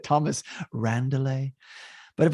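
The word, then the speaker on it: Randele: name thomas randall now it's spelled r-a-n-d-e-l-e i'm assuming so that the second he's silent okay i thought it was like a member seinfeld uh vandelay so though this was like randall is it thomas randall but if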